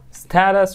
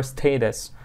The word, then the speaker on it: status: Status or status. Okay, two pronunciations. Status or status. Status, okay? Or status. The two pronunciations are correct, okay? This is flap T.